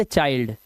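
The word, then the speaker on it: child: bind इस तरह से आई के बाद एल डी है तो वाइल्ड चाइल्ड ठीक है इसलिए इसकी आवाजें चिल्ड विल्ड नहीं होती है ये ये रूल है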